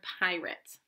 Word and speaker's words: pirate: You hear pirate and you're hearing it at the end. Wait a minute. There's a magic E at the end of this syllable, but we don't hear the long A sound like we did in relate. This syllable isn't following the magic E rule like it should.